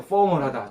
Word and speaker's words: formal: 포멀하다. 정규적이다. 공식적이다.이 말을 써요. 한번 따라서 해 보세요. 포 for 포 포 f 발음은 늘 말씀드려서 싶 이러면 안 되고 이러다가